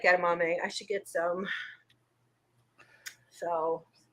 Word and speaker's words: edamame: I actually really like edamame. I should get some. So Kind of rhymes with gourami.